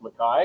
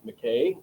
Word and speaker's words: McKay: how you spell it but it is uh pronounced mai which is the original Scottish Highland uh pronunciation for it. U most people will say McKay uh mistakenly including a number of people who have uh the last name.